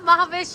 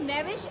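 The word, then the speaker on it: ماہوش: तो फिर तो आप फिर तो आप महाविश हैं आंटी। सो मैविश इज इंटॉक्सिकेशन या शराब जैसी, और माहविश इज चांद जैसी।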